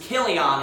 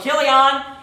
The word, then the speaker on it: Chilion: 95% of the time, it's going to be a ch sound, like Chaldean. So this is Chilion is actually how you pronounce that. So Chilion, and it says Ephrathites of Bethlehem, Judah.